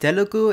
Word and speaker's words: Telugu: Also a bit nitpicky, but Telugu Punjabi should be pronounced Telugu and Punjabi, respectively.